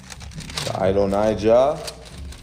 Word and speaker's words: Adonijah: And then in First Kings chapter 1, Adonijah, here we go, that's how you say it.